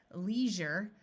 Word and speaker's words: leisure: sees means to forcefully take something or someone Leisure notice that this s is pronounced Jer Leisure refers to free time this